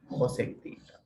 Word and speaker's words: cosec: Sometimes this is denoted as CSC theta, even though this is denoted as CSC theta, this is pronounced as the cosec theta.